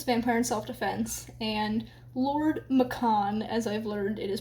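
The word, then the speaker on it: Maccon: she kills this vampire in self-defense and Lord Macon as I've learned it is pronounced from the author's pronunciation guide on her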